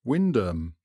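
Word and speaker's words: Wymondham: was none other than waimundum pronounced Windham whether Benedictine monks and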